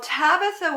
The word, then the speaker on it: Tabitha: read that oh well tabitha was the way you say her name in the aramaic language that they talked back then if you were going to say the same name in greek it would be dorkas both tabitha and dorcas